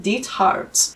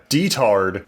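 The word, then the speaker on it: Diethard: I just am trying to say it in the German way that it would be because it's a German name. Deart. Yeah. the way it's spelled and not the way they say it in the show when they're constantly like, "Oh yeah, detard." It's very unfortunate. They really emphasized that last half.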